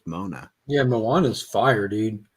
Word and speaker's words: Moana: um mona so ever i think everyone mispronounces moana i think it's pronounced mona yeah moana's fire dude